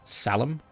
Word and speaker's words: psalm: The P is silent. Oh, so it's a psalm?